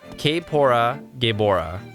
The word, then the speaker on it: Kaepora Gaebora: His name is pronounced. Oh, I don't need that. Owl. Yeah, Kapora Gaebora.